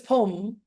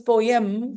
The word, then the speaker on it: poem: po po po poem very very difficult to speak that word when we speak fast it becomes poem and that's wrong when we try to pronounce it it becomes poem that is wrong poem poem Native speakers pronounce each syllable much more clearly than we do.